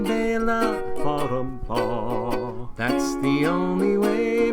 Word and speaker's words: Bela: The song is wild, I really like its style, but they say his first name wrong. It's Bela. Ba-dum-ba. That is how you say Bela.